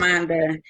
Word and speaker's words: Schamonda: Shamanda. It's SCHAMONDA. The Yep. S is silent. So. Yep. Shamanda.